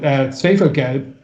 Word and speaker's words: Schwefelgelb: Like you take an artist like, there's a Berlin act called, I'll pronounce it as German, but Schwefelgelb, means sulfur.